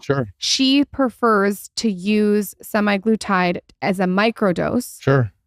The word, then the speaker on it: semaglutide: semi glutide is that how you say it semi glutide yeah semi glutide it's like the one of the brand names